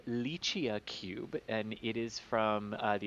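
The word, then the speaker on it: LICIACube: is indeed it's uh it is pronounced uh lychee cube and it is from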